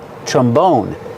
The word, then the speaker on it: trombone: Put the stress on the second syllable. Trombone.